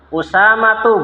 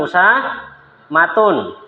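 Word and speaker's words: أسامة: Maka bacanya Hamzatu bukan Hamzatun. Tolhatu bukan tolhatun. Usamatu bukan usamatun.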